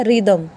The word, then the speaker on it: rhythm: इफ़ the word begin with RH, अगर word आपका RH से स्टार्ट होता है तो वहाँ पे H क्या हो जाएगा, साइलेंट। ये भी एक नियम आपको याद रखना पड़ेगा, RHYTHM। तो यहाँ RH से शुरू हुआ है तो हमें H को साइलेंट करना, तो ये क्या बन गया, रिदम।